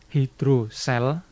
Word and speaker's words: hidrosel: Hidrosel, ada juga yang membacanya hidrokel ya. Oh, ada juga yang baca hidrokel. Saya lebih sering membacanya hidrosel.